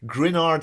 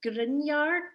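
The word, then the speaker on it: Gruinard: The testing ground, Grenard Island. Am I pronouncing that right? Is it Grenard Island? I checked the translation. I think it's Grinyard. Grinyard, we'll go with that. That sounds better.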